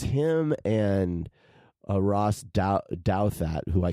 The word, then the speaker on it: Douthat: it's him and Ross Douthat, who I call Doubt Hat. I never know how to pronounce it. I say Doot Hat. It's Douthat, but I call him Douthat.